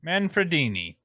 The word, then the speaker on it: Manfredini: Henry Manfredini. And Frendini. He's Frendini. Manfredini. He actually reduced the words kill and mommy down to 2 syllables.